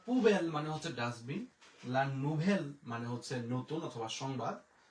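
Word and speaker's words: la nouvelle: ভ, আর ও দোজেল ও হচ্ছে এল, তাহলে লা নুভেল, লা নুভেল। এরপরে এল আ, এল আ, লা, আ এর উচ্চারণ আমরা জানি এখানে একার, তাহলে হয়ে গেল ভে।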